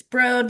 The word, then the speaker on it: Broad: It's broad like Toad in case you're wondering about the pronunciation and uh yeah, we're we're really happy to be here.